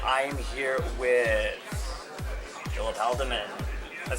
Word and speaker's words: Haldiman: Pool's GNERD Corner, and I am here with Philip Haldiman. That's how you pronounce your name, right?